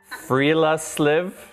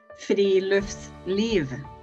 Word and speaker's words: friluftsliv: Friluftsliv. Friluftsliv.